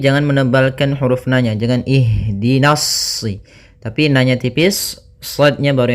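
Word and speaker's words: اهدنا: Ini adalah kita lihat huruf yang ketiganya. Apabila huruf ketiganya fat e maaf kasrah atau fathah, maka kita baca hamzah di awal hamzatul wasalnya itu kasrah. Maka kita baca di sini bukan uhdina tapi ihdina.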